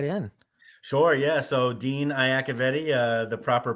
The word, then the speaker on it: Iacovetti: let's Dive Right In sure yeah so Dean aavti uh the proper pronunciation is uh but um I own a recruiting agency